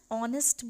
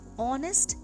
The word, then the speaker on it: honest: For example, an honest boy, an honorable person. In both these words, honest and honorable, the H is silent and the pronunciation comes of O, which is a vowel sound, hence we place an before them.